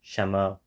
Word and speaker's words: 什么: was he realizing 什么 the same way that I personally pronounce 什么, which is kind of like SHEME, without the N of Shen being distinctly realized?